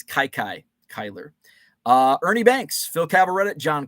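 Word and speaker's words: Kiki Cuyler: Grover Cleveland Alexander, Three Fingers Brown, Frank Chance, Kiki Kyler. I think I pronounced that wrong. I think it's Kai Kyler.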